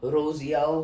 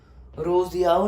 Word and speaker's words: Rousseau: कौन कौन थे, जॉन लॉक हो गया, रोजियाओ हो गया। रोजियाओ की स्पेलिंग भी बहुत ज़्यादा वो टाइप है, समझ